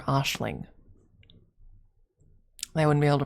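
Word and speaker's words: Aisling: the actual name would be pronounced Ashlin or Ashling. They wouldn't be able to pronounce that. They would read it Eling.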